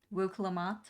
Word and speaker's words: Wuk Lamat: Wuk Lamat.